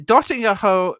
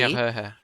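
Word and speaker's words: Döttinger Höhe: The Dottinger Ho, Linus somehow pronounces the Dottinger Hohe. The Dottinger Because it's Höhe. apparently the Nürburgring in Mexico The City. Dottinger Höhe.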